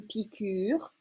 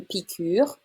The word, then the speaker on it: piqûre: Faire une piqûre. Just pay attention to the accent on the U. Faire une piqûre.